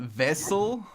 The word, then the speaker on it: Wessel: And then Vessel, which is Vessel, a vessel. So right? Almost like that actually, but it's spelled Wessel.